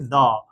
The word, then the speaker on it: the: উচ্চারণ কি করেছি যেহেতু এটা কনসোনেন্ট এজন্য এর উচ্চারণ হয়েছে দ আর তারপরে ক্যাট আছে ক্যাটের ক্যাটের প্রথম বর্ণটা